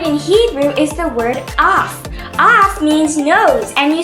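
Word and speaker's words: אף: An interesting word in Hebrew is the word af. Af means nose, and you spell that with an aleph and a Fe Sofit.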